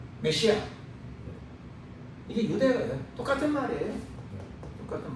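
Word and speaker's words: Messiah: 영어로 머사이어. 영어 발음은 머사이어다. 메시아.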